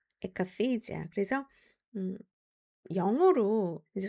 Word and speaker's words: akathisia: akathisia, akathisia. 그래서 영어로 이제 순수한 영어 발음일 경우에는 에라는 말이 잘 안 들려요. 그래서 커가 좀 더 크죠. akathisia, akathisia. 근데 우리나라의 정신과에서는 아카시지아라고 발음이 되는 경우도 있어요.